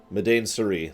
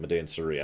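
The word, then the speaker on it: Madain Sari: includes parts of I don't remember how to pronounce it. Medain Suri, that's it, Medain Suri.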